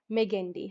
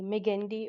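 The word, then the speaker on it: Magendie: And right in the center medally you have ferment of meandi. How do you uh spell it? M A G E N D I E. Meendi or whatever you want to say.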